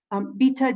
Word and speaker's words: Bita: Bita, do you have a question? And I hope I'm pronouncing your name correctly. Yes, you're pronouncing it perfectly.